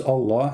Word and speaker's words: Allah: Here we see two words connected to each other, pronounced as Allah. In fact, they are Al-Lah.